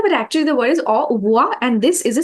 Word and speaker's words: au revoir: See, it is written like RAVOIR, uh, but because the R sound is so different in French, it's pronounced as au uvoa. or wa. Okay. Yeah, so when you say it very close together, when you hear French people saying it almost sounds like au revoir.